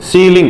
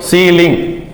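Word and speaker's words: ceiling: जैसे देखिए EI का उच्चारण ई कब निकलेगा, EI का उच्चारण ई, EI है ना, इसमें कैपिटल ई निकल, देखो सीलिंग, इसको क्या बोलोगे सीलिंग।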